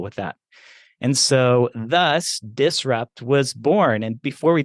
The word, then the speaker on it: DISRxUPT: i SRX U PT so the x is silent like uh we have in so many other Pharmacy related things um so we had